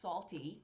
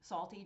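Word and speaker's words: SALTT: TT but it's pronounced salty salty just like LMN is pronounced element and you can see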